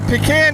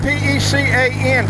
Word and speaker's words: pecan: A pecan tree is spelled P-E-C-A-N, pecan, not pecan. All right, let's get that straight. It's pecan.